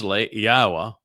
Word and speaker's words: Yahowah: focusing on what follows thus Yahwa which is the proper pronunciation of Yahwa our elawah god as